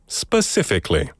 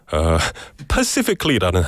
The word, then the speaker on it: specifically: Michael Kimnim said, 닉님, 아까 초반에 요청드리긴 했는데 영국식으로 specifically 발음 좀 부탁드립니다. Specifically. One more time. Specifically. Hope that helped. 근데 사실 이 단어를 제대로 발음하지 못하는 영국인들도 있거든요. Pacifically라는 사람이 있어요.